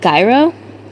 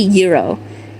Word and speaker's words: gyro: No other way, like Gyro? Oh, that's not how you say it. It's actually Euro.